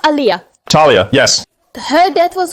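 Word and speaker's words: Aaliyah: wife Beyonce for example they put liar it's pronounced Aliyah Talia yes her death was also very strange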